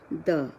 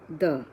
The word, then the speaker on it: the: Now, the point to remember is we pronounce it as the. When the word after this word, I mean after the is a consonant sound.